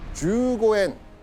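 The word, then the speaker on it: 十五円: 15 円 15 円 50 銭 50 銭 주고엔, 고주센. 주고엔은 15엔, 고주센은 50전을 뜻하는 일본어입니다. 근데 이 단어는요, 일본어 특유의 그 장음에 타금 발음이 있어가지고 조선 사람들이 발음하기 굉장히 어려운 발음이거든요.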